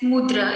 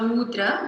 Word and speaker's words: mudra: the chat here and it's mudra it's not mudra but it's just mudra a very short syllable of mudra okay so theana mudra